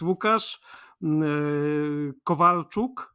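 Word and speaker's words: Łukasz Kowalczuk: I come from Poland uh my name is wuk Kovalchuk it is very hard to pronounce and uh no one from outside our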